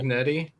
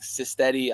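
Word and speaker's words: Cignetti: last name from JMU cetti cetti yeah I always want to say like cyti I I don't know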